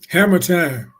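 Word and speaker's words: Harmattan: Are we in that same time period there, Hamatan? Again, pronounce that for me. Hammer time.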